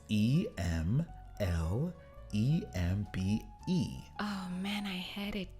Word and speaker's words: Emlembe: Yes, but it's not how you pronounce it, and I forgot now. It's Emlembe. Oh man, I had it too. Is it Mlembe?